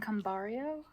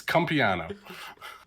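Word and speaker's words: Cumpiano: I've been saying Cambario. There's no R in it. I can't read. Is it Cumpliano? Is that how you pronounce it? Cumpliano. It's exactly as it's spelled. It's cum and piano. Okay. There you go, Tom. That's the answer to your question. It's cum piano.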